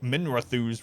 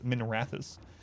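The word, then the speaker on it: Minrathous: supposed to be pronounced i always pronounce it minerathus for some reason but it's minerathis we hope they enjoy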